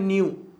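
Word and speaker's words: nu: आपने पढ़ा होगा ये किसका सिंबल होता है, इसको हम क्या बोलते हैं, इसका प्रोनाउंसिएशन होता है न्यू।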